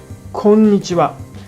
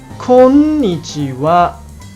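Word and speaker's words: こんにちは: On the other hand, in Kansai dialect, konnichiwa, the accents are on the n and wa parts. Do you hear the difference? Once again, in standard Japanese, it should sound konnichiwa, and in Kansai dialect, it is konnichiwa.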